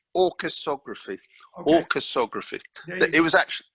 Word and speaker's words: Orchesography: Orcheography? How do you say it? Yeah, I know, it's a disastrous name, isn't it? I don't want to. That's Jack's fault. That name. It's orchesography.